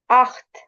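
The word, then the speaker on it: acht: हम क्या बोलेंगे जीबन अख्त अख्त क्योंकि ए सी एच हमने पढ़ा था कि सी एच से पहले ए आ जाए तो ख की साउंड आती है अख्त नयन अब इसमें इ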